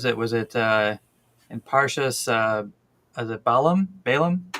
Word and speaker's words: Bilam: Is it Balaam? Balaam? How do you say it in Hebrew? but Bilam.